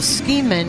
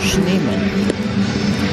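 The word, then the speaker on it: Schneemann: in right field Daniel scheman has gone into play right field I think he pronounced that wrong I think that's schneeman but you can go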